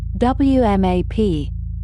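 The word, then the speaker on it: WMAP: know it simply as WAP, pronounced as a single word, spoken softly in the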